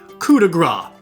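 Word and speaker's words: coup de grâce: a attack option called the cudra or C Grace if you don't know how to pronounce it properly when that happens it's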